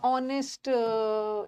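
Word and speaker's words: honest: एयर ई इज़ अ ऑनेस्ट ईमानदार व्यक्ति नहीं होगा मतलब अ नहीं होगा एच साइलेंट है एन ऑनेस्ट ईयर के साथ एन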